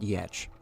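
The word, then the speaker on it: Giertz: name of Simone yetch it's spelled gerts so if you're looking uh online it's Simone g-e-r-t-z I think but it's pronounced yetch because she's Swedish and you know that's just how they pronounce that word I guess actually reminds me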